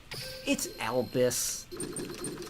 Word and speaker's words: Albus: Well, it's Albus. Albus as in, like, white. But they just spell it weird.